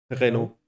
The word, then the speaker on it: Renault: So it's Renault. Renault. Yeah. Yep. The L and the T are not pronounced.